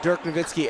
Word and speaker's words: Dirk Nowitzki: viewers I actually want I want to pronounce that correctly it's Dirk Nowitzki not dead that was the American pronunciation there they're gonna called